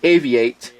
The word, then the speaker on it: AVI-8: these two watches are from a company called a vi8 it's pronounced a v8 and I showed this watch it is a